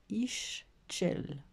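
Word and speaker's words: Ixchel: Alors, prononcez Ischel.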